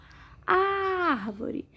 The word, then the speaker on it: árvore: Árvore. Sílaba mais forte é o ar, som aberto, acento agudo.